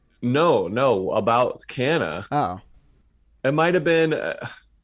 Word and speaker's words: Canha: They randomly started pronouncing Mark Canha's last name Kanya, and I thought that was a correct pronunciation that he corrected, but then his wife, Marcy, tweeted that it wasn't Kanya. It was Canha, like we had been saying it.